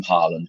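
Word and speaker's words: Haaland: to the extent that erling who whose name is Holland uh wanted it because he was so sick of it being mispronounced he actually asked people to call him Harland because he wanted the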